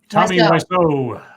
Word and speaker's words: Tommy Wiseau: Tommy Wiseau.